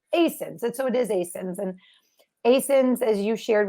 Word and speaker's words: ASIN: And so it is ASINs.